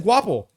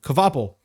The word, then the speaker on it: Kvapil: And Carson Kvapil in, how do you pronounce that name? Kvapil.